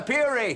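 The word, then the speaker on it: purée: Tomato puree. That's what you mean, tomato puree. No, tomato purry. Tomato. No, I must correct you on this. The pronunciation, the correct pronunciation is tomato purry.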